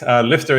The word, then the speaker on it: Lyfta: So it's Lifta is Lyfta. It's the Nordic word for lifting, to lift.